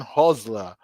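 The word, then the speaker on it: Hürzeler: I want to say his name correctly Fabian hosler the Brighton coach the T1 year old guy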